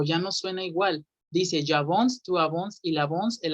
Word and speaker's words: j'avance: Y la C cuando está solita suena como S. Entonces, la pronunciación de este verbo es yo avanzo, j'avance, j'avance.